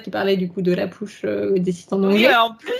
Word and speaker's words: La Push: Mais pour avoir du coup une vraie prononciation, ils prononcent le la comme ils prononceraient un la français.